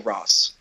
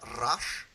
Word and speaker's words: Ra's: You see sorry, is it Ra's or Russ? It's Rash, I believe. I believe it has a roll to it at the start. I believe it's the proper Arabic pronunciation of it.